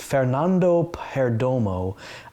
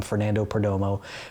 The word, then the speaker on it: Fernando Perdomo: for a long time i always just called him fernando perdomo but i'm trying to say it more like fernando perdomo so fern just smacked